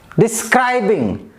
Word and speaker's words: describing: The first one, cry, describing. The pronunciation like this, describing, describing. So cry second syllable is very important there.